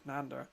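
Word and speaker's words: Nándor: Is it Nander? It's not Leander, it's Nander.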